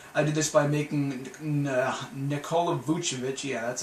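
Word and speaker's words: Nikola Vučević: i do this i did this by making nikola buchevich yeah that's how you say his name damn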